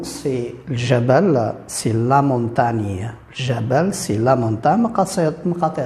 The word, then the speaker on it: montagne: Quand nous avons les deux lettres G et N, on prononce normalement dans le mot, on prononce ni, la montagne, la ligne par exemple, signe, signature, ni.